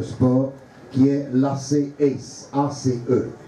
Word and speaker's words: Ace: qui est l'AC Ace, ACE. Ça se prononce en anglais Ace.